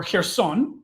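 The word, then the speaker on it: Херсон: a good story too so here's some or here's on sorry to pronounce it the ukrainian way down here her son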